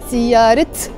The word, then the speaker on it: سيارة: So you don't say siyarat bayda, you say siyara bayda.